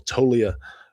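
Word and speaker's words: Toglia: Track track ball jack says, "Michael Tolia. I I realized that G was silenced, so I've been saying it wrong this whole time.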